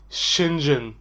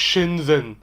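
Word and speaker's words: Shenzhen: اسمها شينجن مش شينزن. حتى بص ده النطق الأمريكاني ليها على جوجل ترانزليت. شنجن مش شنزن، شنجن.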